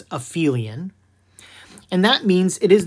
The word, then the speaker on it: aphelion: that is called the aphelion not aphelion you'll see people pronounce it appealing but that's incorrect it's aphelion and that means it